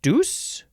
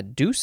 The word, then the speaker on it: douce: old rainfall is a douse flippity flap flap the third form of douse you can also pronounce it Deus yeah Deuce I think uh this